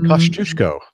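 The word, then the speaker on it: Kościuszko: Kosciuszko is the way that you pronounce this.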